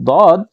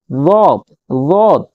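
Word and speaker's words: ض: Just ज़ाद, क्योंकि हमने अपने देशों में, अपने मुल्कों में हमने इसको ज़ाद पढ़ा है, ठीक है, जेड के साथ ज़ाद। लेकिन अरेबिक में थोड़ी सी इसकी प्रोनाउंसिएशन जो है वो तब्दील हो जाती है, हम लोग बोलते हैं दाद, ठीक है।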